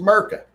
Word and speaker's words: Murica: It's just Merca. Merca. The I is silent. Unless you're predominantly defending over hundreds of yards, AK.